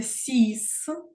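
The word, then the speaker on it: six: паличка зверху вниз називається А далі число шість воно читається сіс це виключення тому що взагалі на кінці слів не читається слово година жіночого роду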